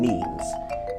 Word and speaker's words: meme: So I call it a meme. So it doesn't exactly rhyme with gene, but it's sort of short and sounds vaguely similar.